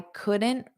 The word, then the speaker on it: couldn't: Notice that flap T, you don't pronounce the T. I couldn't find street parking. So we don't pronounce the T, the D, or the T.